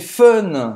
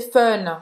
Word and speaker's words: fun: É como se fosse o som de uff. C'est fun, fun. É, você faz a boca do O, certo? E fala é. C'est fun.